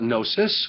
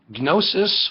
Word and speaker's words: gnosis: So, gnosis or gnosis, you don't pronounce the G in Greek.